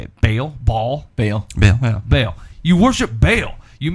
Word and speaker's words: Baal: Baal.